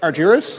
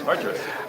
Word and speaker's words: Argeris: Correct me if I'm pronouncing your name wrong. Arjurus. Arurus. Arurus. There you go. Alex Arjurus. Um, and we're going to be having some prizes after this, so stick around.